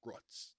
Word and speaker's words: roots: in roots roots and it's spelled roots but it's ruts because that's a very lancaster thing um well it's spelled